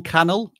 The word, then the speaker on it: Cannell: Cannell rhymes with channel.